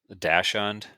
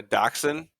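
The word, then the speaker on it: dachshund: that was a hint they're the same word they're just pronounced German or not spelled the way you would expect it to be pronounced I wasn't correcting him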